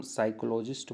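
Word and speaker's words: psychologist: बना है next साइकोलॉजिस्ट यह पी जो है यहां पर साइलेंट होता है इसको हम साइकोलॉजिस्ट बोलते हैं यह मनोवैज्ञानिक होता है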